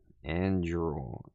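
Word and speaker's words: Anduril: Andrul. A n d r u i l. Oh, Andrul.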